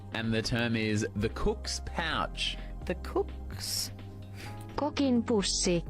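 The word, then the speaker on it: kokk: Cook, like a chef, in Norwegian is cook. By the way. So, you know, it's not quite as funny as you know, the cock and pussy, but you know. Yeah, we spell it with 2 K's at the end, so K-O-K-K.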